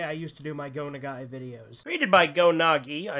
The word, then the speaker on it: Go Nagai: myself a pretty big Go Nagai fan, but for the past 2 years since I first got into him, I've been pronouncing his name Go Nagi, which is completely incorrect.